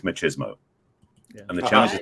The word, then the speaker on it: machismo: My belief is what people are attached to, many men are attached to, isn't masculinity, it's machismo. Yeah. And the challenge is machismo. Say it like the Spanish Latino.